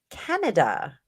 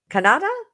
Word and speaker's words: Kanata: we're getting there okay your last name is pronounced Canada huh what'd I say Kanata can I think I said Canada all right yes yes